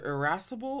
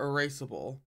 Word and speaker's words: irascible: to pronounce this word it's either irascible or erasable it's probably irascible to distinguish itself from the word erasable but the word I'm